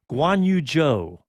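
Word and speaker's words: Zhou: seen the most is guan yu-jo that's that's how they're pronouncing the last name like j-o-e so we'll keep it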